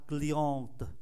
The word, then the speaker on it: cliente: La cliente, chúng ta không phát âm ơ cuối.